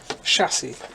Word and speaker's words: chassis: fishy fishy fishy fishy it is chassis just start it with an S even though it's spelled differently crazy but yes I the